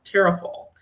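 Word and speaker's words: Tarrafal: and stay and it's terrial and I'm probably saying it wrong because I'm saying it like an American but um it's t a r r a f a l and it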